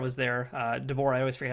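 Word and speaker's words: de Boer: I'll refresh your memory a bit, because Nicole DeBear was there. DeBoer, I always forget how to say her name too, but she was there as Ezri.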